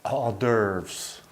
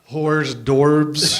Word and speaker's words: hors d'oeuvres: Hors d'oeuvres. But have you ever read that word, hors d'oeuvres? Yeah. Like whores, dorbs. It looks like hors d'oeuvres.